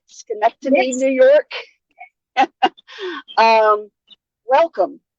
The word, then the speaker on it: Schenectady: Chelsey from Schenectady, did I say it right? Schenectady, Yes.